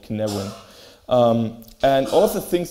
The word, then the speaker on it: Cynefin: rediscovered his thoughts on complexity and something called Cynefin.